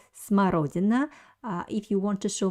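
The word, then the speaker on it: смородина: currant will be so this word uh has two letters o or the second o is stressed so i pronounce it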